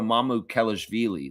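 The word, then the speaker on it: Mamukelashvili: A plus 19 for Sandro Mamu Kellish Villi.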